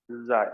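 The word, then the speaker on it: chi: जाय, काय, मतलब हम यहाँ फिजिक्स में तो उसको काय बोलते हैं।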